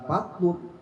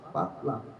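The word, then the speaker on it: فضلاً: Fadlan minallahi ta'ala wa nikmatu, bukan fatlun, dibacanya fatlan. Terus bagaimana bedanya? Kedua-duanya mendapatkan pahala. Cuma pahala yang lebih adalah membaca fatlam. Karena Al-Qurannya apa? Fatlam bacanya, bukan fatlum.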